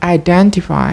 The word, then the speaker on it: identify: The learner replaced diphthong I with E, as in the word identify. In English, this word should be pronounced identify, but the learners tend to pronounce it identify, identify, identify.